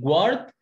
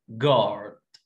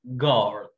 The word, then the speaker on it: guard: جوارد غلط، اسمها جارد جارد. When the letter U comes after the letter G we don't pronounce the letter G guard guard.